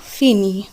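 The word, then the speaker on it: finit: ই লেল ও ফিনি, এক্ষেত্রে দেখুন ই তে যুক্ত হচ্ছে কিন্তু উচ্চারণ থাকছে একই, ইল এল ও ফিনি অর্থাৎ সে শেষ করে।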